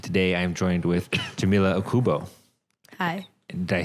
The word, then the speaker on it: Okubo: I've heard people have said Okubu, Okabu, and I'm like, it's literally Oku.